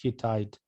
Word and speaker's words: Hittite: So Hattusa was the capital of Hidi. Alex, I apologize, but I think it's pronounced Hittite. Hittite, sorry, Hittite. Yeah, if anybody knows better, correct me.